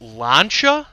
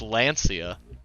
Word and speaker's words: Lancia: production cars really did you is this brand pronounced launcher yes wow i am in my brain has